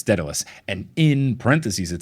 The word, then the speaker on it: Daedalus: with the other two I will be saying Daedalus because that's how they say it in Hades a video game and that is the